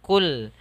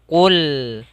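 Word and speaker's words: قُلْ: Huruf qaf makhrajnya ketika kita melafalkan qaf ini hati-hati jangan sampai kita baca terbaca dengan huruf kaf, jangan kul. Tapi dia tebal lagi. Qul.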